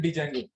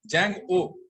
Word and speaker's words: Django: ऐसे ही बोलते हैं डी जेंगो। क्या बोलते हैं इसको? हम जेंगो कहते हैं। लिखा हुआ पैरापॉइंट पढ़ लिया आप लोगों ने? क्या बोलते हैं इसको हम? जैंग ओ, डी साइलेंट।